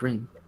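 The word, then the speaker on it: Wren: Well, the spelling is Ren, but the pronunciation is Rin. Rin. W-R-E-N.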